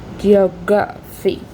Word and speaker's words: geography: We have geography. We have the phonetic composition. We have also the stress pattern. The primary stress is on the second syllable, indicated again by the little symbol before D. So geography.